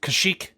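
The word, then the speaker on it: Kashryk: You also met Kashyyyk, spelled K-A-S-H-R-Y-K, but pronounced Kashyyyk, apparently, because we changed that, who was the liaison for Focus Point Escapes.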